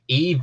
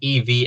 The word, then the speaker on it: EVE: Eva you are wrong it is Eve Eve EE not evey a from Wally yeah it's